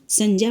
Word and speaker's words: संज्ञा: प्यारे बच्चों आज हम संजा पढ़ेंगे कुछ लोग इसको संज्ञा पढ़ते हैं पर इसका सही उच्चारण संजा होता है यह इसको संजा उच्चारण